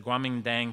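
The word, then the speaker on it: Kuomintang: uh which is uh they pronounced it the Guamin Dang some people again say that starts with a K but it's the Guaming Dang party the Chinese nationalist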